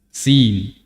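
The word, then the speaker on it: يس: muqattaah huruf yang terputus-putus cara membacanya menyebutkan nama hurufnya ya Sin huruf ya dengan Sin Nun qf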